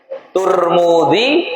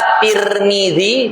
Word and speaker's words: Tirmidzi: Nah, memang ada tiga lghat, tiga cara membacanya. Yang pertama Tirmidzi dan ini yang paling masyhur Tirmidzi. Yang kedua, Turmudzi. Yang ketiga, Tarmidzi.